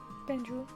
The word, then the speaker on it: Banjul: It's called Banjul? Banjul. Banjul. 반주? Sounds like banjo. Banjo? Yeah, banjo.